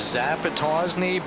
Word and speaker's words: Zappatosnay: all that dirty air the correct way to say it is zappatosnay bit every year that